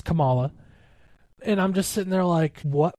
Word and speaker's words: Kamala: They always said her name wrong. Kamala this, and it's Kamala.